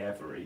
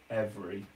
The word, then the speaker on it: every: Because you don't say every, you say every. It's more. It's almost 2 syllables.